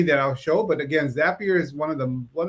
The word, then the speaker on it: Zapier: know and it's it's it's spelled z-a-p-i-e-r um it's a zapier like if you want to be happier and what makes it